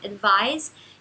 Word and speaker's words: advise: E esse é um excesso de distinguir, porque no português um S entre vogais a gente pronuncia com som de Z. Então, advise, advice.